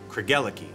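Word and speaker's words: Craigellachie: Think of it as a love story. Craig fell for Ella, who gave her the key to his heart. Craig, Ella, Key. Kergeliki.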